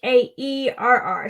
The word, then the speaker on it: Haerr: So Twitter is Hair, and it's Haerr. So it's pronounced like hair on your head, but it's not spelled like that.